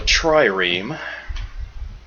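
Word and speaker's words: trireme: So, this gives me access to a tiny little boat called a triam. I looked it up. That is how you pronounce it.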